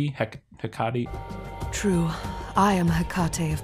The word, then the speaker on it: Hecate: And then this is where we're introduced to Brand and Hecate, which is how I'm going to pronounce it. They pronounce it Hecate.